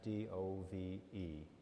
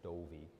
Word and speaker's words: Dove: His last name was D-O-V-E. The local pronunciation is Dovey.